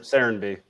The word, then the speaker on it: Serenbe: How do you pronounce it? Serenby.